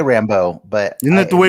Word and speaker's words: Rambeau: When you say Rambo, Dennis, how do you say it? Was it Rambo? I say Rambo. That's Monica Rambeau, right? You say Monica Rambeau? I say Rambo, but isn't that the way they say it on the show?